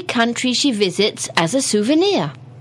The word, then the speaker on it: souvenir: souvenir it is spelled s o u v e n i r it's actually a French word comes from the French originally anyhow souvenir it's something